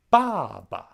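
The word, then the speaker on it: 爸爸: ba d and mei the full names are pronounced baba and lastly the third tone character when saying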